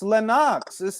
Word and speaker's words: Lennox: you you only want them but what what pronounce lennox's name bro it's lenox the way lenox is looking at it shut